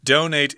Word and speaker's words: donate: Your dictionary may tell you that the verb form is pronounced donate, and you might hear people say that. But very few. Yeah, as Americans, we almost always say donate.